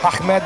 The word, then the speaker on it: Ahmed: Ahmed, come pronuncialo? Ahmed l'ambulante.